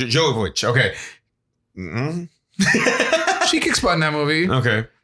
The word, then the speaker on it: Jovovich: her name right the Resident Evil Girl Mila Djokovic Jovovich okay mm-hmm she kick spotting that movie okay